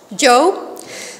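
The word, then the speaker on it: Job: i pronouncing it right is it jaw or joe joe so it's the life of joe now all his possessions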